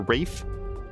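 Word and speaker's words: Ralph Fiennes: mad about Ray uh is it Ralph findes or Ray fines I've always I feel like everybody's always pronouncing it like Ray or Rafe uh but that chick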